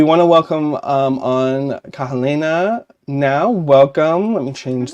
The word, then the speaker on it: Kahelena: your name please describe please pron pronunciate it pronunciate it the way you would it is Kahala is my name Kahala yes yes L versions